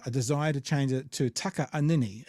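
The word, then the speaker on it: Takaanini: to change it to Taka anini it's t a k a a n i n i and it is pronounced with the split in it um I believe that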